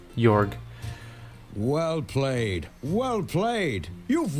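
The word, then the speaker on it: Georg: yorg where are you I know it's gayor but I refuse cuz his name should be pronounced yorg well played well played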